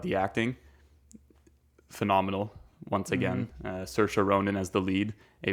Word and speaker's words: Saoirse: And I mean, it goes to show, you know, Emma Watson, I cannot pronounce her name. Saoirse Ronan. Saoirse Ronan, thank you.